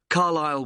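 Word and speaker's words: Carlisle: and your address 45 carile way could you spell carile for me sorry it's c a r l i s l e you don't pronounce the S carile way and that's in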